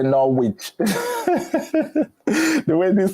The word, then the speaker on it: Norwich: So you want Norwich. Don't go there and say Norwich.